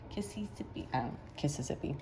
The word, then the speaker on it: Kississippi: Kississippi, that's how you say it.